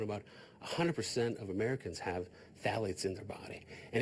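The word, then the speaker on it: phthalates: should know is called phalates. Phalates. Phalates. spelled with a ph. It is the worst way to spell it. It's like an alphabetical mess.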